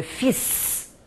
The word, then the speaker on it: fils: Por exemplo, a palavra filho, o filho homem, le fils. Eu sou obrigada a falar o S, mas normalmente eu não falo.